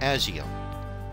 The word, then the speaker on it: ASIO: windows wave driver or asio some pronounced at SEO the beautiful thing about